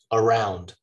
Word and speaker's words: around: Around. So when you unstress that first syllable, the rest of the word, the stressed part, just becomes alive.